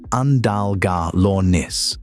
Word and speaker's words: Andalgalornis: They took a mid-sized terror bird called Andalgalornis, pronounced Andalgalornis, which weighed about 90 lb and stood about